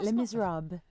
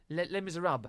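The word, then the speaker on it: Les Misérables: Oh, Les Miserables. Les Miserables. Mm-hmm. There's no le on the end of it.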